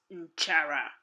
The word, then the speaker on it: nchara: Another translation is nchara. Let's spell it.